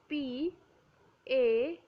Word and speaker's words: pain: bread we say PA p a i n Brad spelling is similar to pain but it is not spelled uh it is not pronounced as pain it's pa okay next is flag